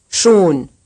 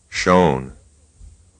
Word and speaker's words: schon: 25, Here's another syllable pronounced right and then wrong. Schon. shown.